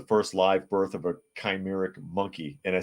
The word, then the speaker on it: chimeric: live birth of a chimeric monkey and I says CH but it's pronounced with a K scientists from China reported